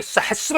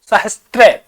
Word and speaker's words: सहस्र: क्या बन गया भाई सहस्र बन गया है अगर इसको कई बार हम देखते हैं इस प्रकार ये अगर लिखा होता है सहस्त्र ये शब्द अशुद्ध है भाई इसको याद रखना है सहस्त्र ये उदाहरण हमारा जो शब्द है उदाहरण का ये गलत है इसको सहस्र याद रखना है स है स